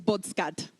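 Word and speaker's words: བོད་སྐད: In fact, the word Tibetan in Ladakhi is bodskad. Badnaro bodda, bodsagataskadaskad, bodskad. They pronounce every single silent letter. It would be the same as if I said light was licht.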